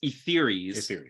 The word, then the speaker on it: Etheres: I believe it's like ether, so it's Etheres.